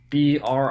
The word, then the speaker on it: Brinton: let's get into the Britain Lodge and for anyone who might be curious It's not actually spelled Britain it's b r i n t o n so br is probably the proper pronunciation but I'm probably not